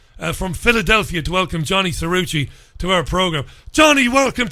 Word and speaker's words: Cirucci: calm serene pleasure from Philadelphia to welcome Johnny suruci to our program Johnny welcome to the program I hope I'm pronouncing your surname properly it it is